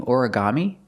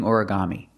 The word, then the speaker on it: origami: Put the stress on the first syllable and the third syllable.